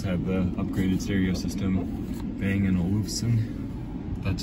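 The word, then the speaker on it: Bang & Olufsen: this one does have the upgraded stereo system Bang and Olufsen that's how you pronounce it fog lamps headlights are automatic I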